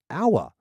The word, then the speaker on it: Owala: Owala. So it's the second person who's recommended this. The Owala tumbler has How do you spell it? O-W-A-L-A. Owala? Owala. O-W-A-L-A. Owala. O-ala. Owala.